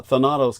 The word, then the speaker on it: Thanatos: So the term Thanatos complex, or I believe that's as correct a pronunciation as I can muster, close to the original Greek, would be Thanatos complex.